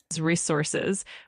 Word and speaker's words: resources: Of course, it's pronounced as resources with the emphasis on the second syllable.